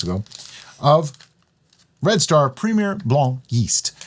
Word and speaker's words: Blanc: of Red Star Premier Blanc yeast. It has a C on the end that you don't pronounce because it's French.